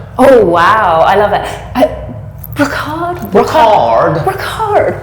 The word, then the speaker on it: Brocarde: Brocarde, or Brocarde, as the Americans say.